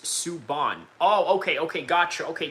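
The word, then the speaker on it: Subban: PK Sububan pronounced Suban."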